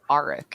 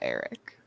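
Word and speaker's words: Aric: alright i i said arik in my head not eric you're probably right that sounds a lot more like arc yeah that's what i've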